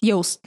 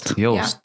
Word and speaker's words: Joost: pronounce your name, and he said it's like ghost. So Joost, not Joost. Joost. Yeah, he said imagine like his pronunciation similar to ghost.